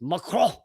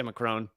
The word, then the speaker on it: Macron: If you want to pronounce it, the French way, it's Macron, but I'm going to say Macron.